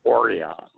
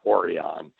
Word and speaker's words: Orion: It's called Orion. It's spelled like the star, but you call it Orion. And if you say that the other way, they look at you strangely.